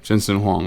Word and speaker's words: Jensen Huang: huang's how did you pronounce his name you pronounced it correctly uh yes the human walmart jensen huang i think i think i would trust you